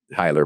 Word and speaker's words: Heyler: Hyler Realty, Hyler by the way is how it's pronounced.